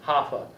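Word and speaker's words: HAFA: believe it or not it's spelled h-a-f-a hoffa the home affordable foreclosure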